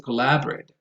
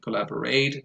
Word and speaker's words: collaborate: in my experience are mispronounced, especially in terms of stress allocation.